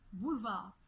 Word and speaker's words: boulevard: ya bien eu metz comprenant ce eu aucunement prononcent pas le e on dit boulevard à l'heure où le célèbre qu'elles émettent zaghib